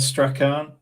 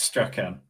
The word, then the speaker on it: Strachan: It's Strachan, not Strachan. It's Strachan.